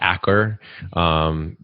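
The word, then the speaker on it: Achor: and i i think his last name is pronounced acker a-c-h-o-r he wrote a book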